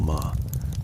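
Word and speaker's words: 間: It is pronounced as one syllable ma. The same sound as the beginning of mother or maple or margaret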